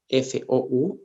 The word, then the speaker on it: fou: y la palabra fe, que se escriben casi igual, o sea, F-O-U y F-E-U, pero se pronuncian diferente. La primera se diría fou, que quiere decir loco, Ujú. se dice loco en francés es fou, y la otra palabra que es feu significa fuego. Entonces son palabras que son